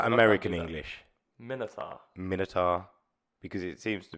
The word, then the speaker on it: Minotaur: I just want to say Minotaur, 100% the correct way to say it.